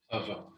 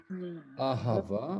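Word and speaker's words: אהבה: Ahava, Ava. Ahava, il faut bien prononcer le ha, Rava.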